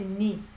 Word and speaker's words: 네: So even in his singing, he says 니. We pronounce it as 니 because in vocal it confuses with 내.